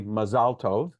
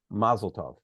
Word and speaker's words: mazel tov: and event and again the subaric pronunciation would be mazalov and the ashkanazi pronunciation which is identical to Yiddish would be mazeltov and most of us